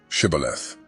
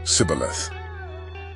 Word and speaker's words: Shibboleth: The Gileadites seized the Jordan River crossings and used a test word, Shibboleth, to catch fleeing Ephraimites, who mispronounced it as Sibboleth.